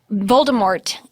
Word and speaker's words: Voldemort: about it but um Voldemort doesn't you don't pronounce the T apparently yeah what do you